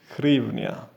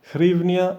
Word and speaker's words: hryvnia: language counterpart pronounced grievna however the standard english name for the currency is grievnia the national bank of ukraine has recommended that a distinction be made between hrivnia and grievna in both